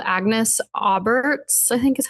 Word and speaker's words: Aubert: I listened to the audio book, too, and the audio book has strong French pronunciation, and I was like, "Oh, okay." Um, okay. Agnes Aar's Mystical Cat Shelter.